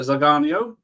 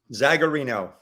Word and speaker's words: Zagarino: we can welcome Mr zaganio is that how you pronounce it because I've only seen everything down anywhere zagarino I've been saying it right since the 90s so pleased I was